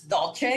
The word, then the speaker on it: Dulce: Well, my name is Dulce, commonly known as Dolce, because a lot of people pronounce it that way. Either way is fine.